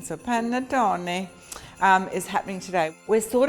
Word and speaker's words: panettone: the Italian Christmas bread I know I'm saying it right because I had to call my son this morning you say every single letter in Italian so panettone is happening today we're